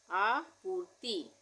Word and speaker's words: आपूर्ति: आपूर्ति, आपूर्ति, आ हो गया, उसके बाद पू, उसके र का उच्चारण हो रहा है, तो त पे हम पहले छोटी की मात्रा लगाएंगे, फिर हम रेफ की मात्रा लगाएंगे ये आधे र के उच्चारण के लिए, तो ये हो गया आपूर्ति।